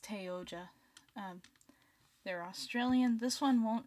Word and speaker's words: Oja: See, the character that this person, Oja, I think is how it's pronounced. Let me actually check that. Yeah, it's Oja.